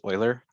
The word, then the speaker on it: Euler: kind of math subject right but it is pronounced euler yeah so just a little review from 6.1